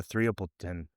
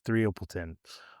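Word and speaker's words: Threapleton: I kind of just butchered her name there, but I looked it up to make sure that it was Threopleton, so that I didn't screw that part up.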